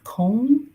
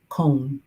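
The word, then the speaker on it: Köln: earbuds I'm not doing that ah Jurgen says cone oh cologne is Cologne Germany is pronounced and I know I'm saying it incorrectly cone that's good to know and yeah thank you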